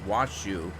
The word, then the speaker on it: Washoe: I'm saying it's Washoe, Nevada, because W-A is Wa, S-H-O-E is shoe. So I'm assuming it's pronounced Washoe.